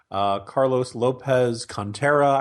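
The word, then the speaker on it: Carlos Lopez-Cantera: You mentioned DeSantis, the lieutenant governor, Carlos Lopez Contreras, I believe is how you pronounce his name, is running down there.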